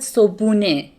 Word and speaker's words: صبحونه: I said صبحونه. صبحونه. So I omit the he sound.